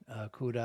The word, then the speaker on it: Kuda: And Kuda is spelled Kuda, just like it sounds.